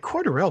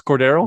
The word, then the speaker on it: Cordarrelle: Like, yeah, and it's like Cordarrelle. Wait a second. Am I saying his name wrong? It's Cordero. You are. It's Cordero.